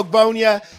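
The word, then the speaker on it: Ogbonnia: rams my guy is otito obonia i think that's how you say his name that's right otito ogbonya he's from ucla he's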